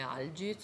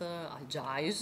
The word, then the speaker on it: Algiz: runa Mann, che si conosce come Algith o Algith, Algis, a seconda della lingua con cui lo si vuole pronunciare.